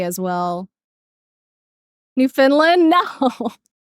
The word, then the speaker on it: Newfoundland: New Finland. No, Newfoundland. We do pronounce it Finn though, even though it's uh New Foundland.